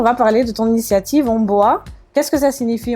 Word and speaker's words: Ohmboa: soi à la maison normalement ça se prononce mon beau à ça vient du doigt la qui est un dialecte camerounais parce que je suis